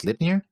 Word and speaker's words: Slipnir: You can pronounce my name as Slipnir, like the eight-legger, leg-legger.